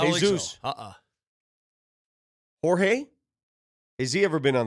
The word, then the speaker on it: Jorge: He spells it Jorge, pronounces it George. I gave him a Jorge, and he goes, "That's actually the right way to say my name, but I just say George, so you can just say George."